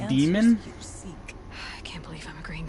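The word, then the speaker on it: Daemon: suffering tormented by the Damon she longs to be free and perhaps when Rel they keep calling it a Damon but I'm pretty sure it's pronounced demon I can't believe I'm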